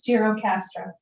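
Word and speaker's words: Gjirokastër: to learn there but i'll call it gerocastra um which sounds to me like that's right it's jiro castro okay sounds to me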